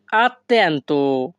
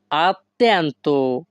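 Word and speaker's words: attento: Italian হবে সেই মূলত আত্যান্ত এখানে সেই মলত অর্থ তুমি খুব আত্যান্ত অর্থ মনোযোগী উচ্চারণটা হবে আত্যান্ত আত্যন্ত হবে না কিন্তু হবে আত্মান্ত তাহলে ইতালিয়ান সেন্টেন্স সেই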